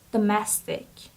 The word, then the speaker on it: domestic: Graphics next word is domestic domestic so the syab the stress is on the second syab so it's domestic domestic the messing Mees are